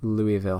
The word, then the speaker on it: Louisville: These are like the biggest houses that I built, but I found a house on Instagram that is located in Louisville, Kentucky.